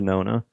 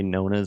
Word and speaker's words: Nona: to get everybody to go for the Nona and say the Nona, but so many people say Nonas, and I'm like, bro, you're saying it wrong.